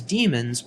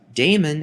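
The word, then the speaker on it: daemon: in the modern spelling however the pronunciation is the same damon is incorrect even though many people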